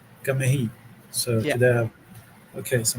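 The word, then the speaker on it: ngā mihi: We say ngamihi. Gamehi.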